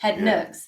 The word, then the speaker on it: Head Nooks: Is that how you pronounce it? Head Nooks. Head Nooks.